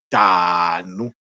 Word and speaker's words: tanu: Alors déjà à travers la façon que je le prononce, vous allez comprendre que et on écrit tanou mais ça se prononce tanou.